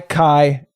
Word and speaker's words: Chi: It's pronounced Kai. That's Kai. Wait, also key. Come on. What? That's just not That's not No, take it back. Primary pronunciation is Kai.